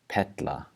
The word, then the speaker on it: perla: So the first one is where the R makes a T sound. So instead of saying perla, we're going to say petla, petla, with a T instead of an R, petla.